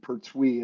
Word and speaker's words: Pertuis: So it's like TWEE, Pertuis is how we say it.